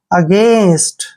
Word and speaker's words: against: Next word AGAINST, ए का उच्चारण हम क्या करेंगे, ए, ठीक है। और यहाँ पर GAI को हम पढ़ेंगे गे, ऐसे गे, और एन को आधा ने, एस को से, और टी को टे। अगेंस्ट, अगेंस्ट, अगेंस्ट होता है